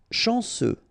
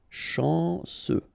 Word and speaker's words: chanceux: Chanceux, final X not pronounced, this C-E-U, ce, chanceux, chanceux.